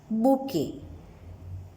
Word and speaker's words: bouquet: सी the spelling of बुके, टी, इट्स a silent letter, so वी से इट बुके।